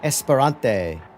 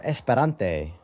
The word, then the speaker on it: Esperante: I've never actually driven the Panos Esperante. Or Esperante. There we go. It's a better pronunciation the second time.